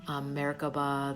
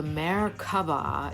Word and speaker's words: Merkaba: Merkaba, there's different ways to pronounce it. This is the interlocking pyramids. And so there's many facets to this. Merkaba means light, mer. Ka means energy, ba, body.